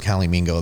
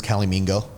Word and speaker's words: calimingo: no such word as calimingo that's our own thing that's amazing it doesn't exist we know why don't you spell that for people so cali like california and mingo like flamingo cali a-l-i-m-i-n-g-o dot com